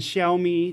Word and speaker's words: Xiaomi: 0 day found in iPhone X, Samsung Galaxy S9, and Xiaomi, because that's how you say it, Doxy.